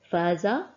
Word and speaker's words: فاز: الطويله او حركه المد انظري عند النطق بكلمه فاز تمدين او تطيلين في نطق حرف الالف فاز فننظر الى الحرف